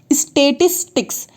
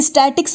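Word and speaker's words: Statistics: सकते हैं, ministry of स्टैटिस्टिक्स। देखिए स्टैटिक्स नहीं है इसलिए मैं इसको लिख कर बता रही हूँ, इसका प्रोनाउंसिएशन भी आप देखिएगा, ministry of स्टैटिस्टिक्स and programme implementation.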